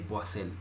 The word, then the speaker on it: Poiseuille: Lo pronuncian de diferentes formas, pero yo le digo ley de Poiseuille.